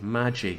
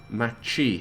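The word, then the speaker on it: 町: you told me that village is pronounced maggie unless i heard you wrong magi i keep just saying village because i don't know but okay so she's given her a stern talking to machi thank you machi should have known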